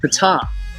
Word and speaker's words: Ptah: of the deity called Fatah or top if you use the silent P pizza which was phonetically